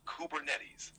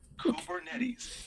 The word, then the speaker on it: Kubernetes: running smoothly is it cuetes or kubernetes it's pronounced kubernetes the name comes from the Greek word for